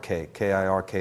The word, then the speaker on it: kirk: wizard the enchantress cir which the Scottish pronounce as kirk with a hard k i r k is Scottish Celtic gic